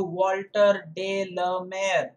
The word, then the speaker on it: Walter de la Mare: that's nice so it's chandamani here according to walter de la mer remember that's the name of the poet that's how you make the pronunciation okay let's go through figures of speech